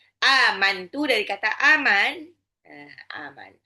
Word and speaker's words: amantu: Amantu nah itu juga enggak boleh dibaca amant enggak boleh jelas sejelas itu. Nunnya harus di samarkan enggak boleh terdengar nun. Aman. Nunnya itu kayak mau lompat ke makhrajnya ta. Inni amantu birabbikum fasmaun.